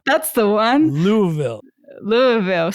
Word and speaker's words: Louisville: Louisville. Someone told me say it like you have marbles in your mouth.